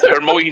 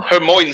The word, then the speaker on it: Hermione: Hermione. I mean, you could pronounce it both ways. Oh. Hermione sounds like a place in America.